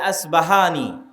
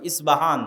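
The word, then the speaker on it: أصبهان: প উচ্চারণ করি ইসপাহান আরবিতে এটা উচ্চারণ হয় না আরবিতে হয় আল আসবাহানি বা উচ্চারণ হয় ইসবাহান বা আসবাহানী সেখান থেকে 70 হাজার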